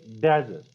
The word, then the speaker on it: desert: So when I say desert, what am I doing? I'm stressing the first syllable of a word.